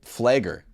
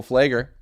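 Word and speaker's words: Pfleger: think of Father Michael flagger the pier silent voice it's a silent p he's a social and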